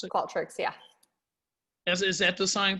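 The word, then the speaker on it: Qualtrics: tricks is it called show that's how you pronounce it called tricks yeah is that the same thing um she's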